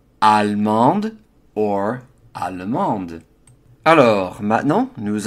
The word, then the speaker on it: allemande: And I'm going to do the same thing for the word allemand, where I'm going to pronounce that E.